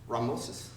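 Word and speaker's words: Ramesses: Well, it's wrong pronunciation. It's English. It's American English. It's actually Ramosis.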